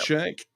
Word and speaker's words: Shank: Supreme Court Place 9, David Shank, I believe. Is that how you pronounce it, Daniel? Yep, David Shank.